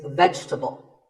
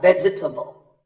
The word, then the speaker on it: vegetable: Another food word that's mispronounced a lot is vegetable. It's not vegetable. If you say it correctly, there are only 3 syllables. Vegetable, vegetable.